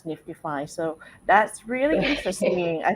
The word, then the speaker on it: NFTify: spelling is NFTIFY. But then, we say Niftify, even though I know that there's some other projects that, maybe pronunciated very similarly. Yes. Understood. Understood. So Yes. Niftify, but you know, usually say it as Niftify.